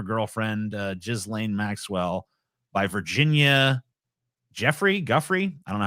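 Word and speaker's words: Giuffre: It's Ruffrey. In the document, Ruffrey alleged that many of the sexual encounters occurred under the guise of massages that Maxwell, a British socialite, procured for Epstein and others. Guffrey claimed that while she was a teenager, Epstein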